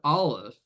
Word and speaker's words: Aleph: That is to say, the word Aleph for ox begins with the glottal stop sound, an Aleph.